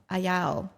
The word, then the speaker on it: Ayao: Because it's pronounced like it's spelled Ayao. Yes, apparently you do not skip any of the vowels. Ayao. Even if a consonant is in there, you just Ayao. continue to pronounce the vowels the same.